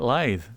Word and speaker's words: lithe: You say it lithe.